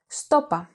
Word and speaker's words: Σου το είπα: Σου το είπα. I told you so. Σου το είπα. I told you so. This can also be pronounced stopa, with the pronoun σου and the verb form είπα contracted.